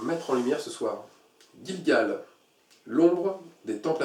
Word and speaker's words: Gilgal: Gilgal veut dire aussi en hébreu, Gilgal, en hébreu ça se prononce Gilgal, lieu d'adoration illicite.